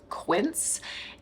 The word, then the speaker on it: Quince: in this video is from a brand called Quint and it's a brand that I've talked about